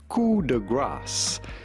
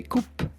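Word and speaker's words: Coup de Grâce: how to pronounce it cool the grass Cuda grass in French but in English or American Quarter grass do not pronounce the P do not say Coop but rather cool the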